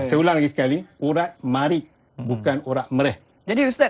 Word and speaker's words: marik: Marik ni dulu kita jawab mereh. Mereh, urat mereh sebenarnya tak tepat mereh. Ejaan dia mim alif ra ja ada hamzah tu marik. Jadi dalam jawapan kita mesti marik, M-A-R-I-K. Marik dengan menggunakan alat yang tajam dengan niat kerana Allah.